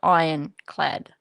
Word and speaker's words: ironclad: You don't pronounce the R, Daniel. Just ironclad.